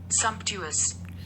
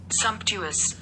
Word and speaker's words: sumptuous: आपको प्रोनाउंसिएशन तो सिखाई देते हैं, गूगल भाई साहब क्या बोलते हैं। Sumptuous. Sumptuous.